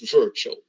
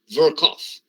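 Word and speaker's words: Virchow: the hospital you may say here some people mispronounce it and say virtual okay it's not virtual verkoff so it's work off the node so verkoff's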